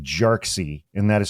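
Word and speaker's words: Jarkesy: the case is Security and Exchange Commission V jxy and that is spelled j a r k esy and before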